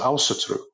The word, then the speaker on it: Ásatrú: It was Åsetru, and the Icelanders copied that pronunciation, but in their language, and they pronounce it Åsetru.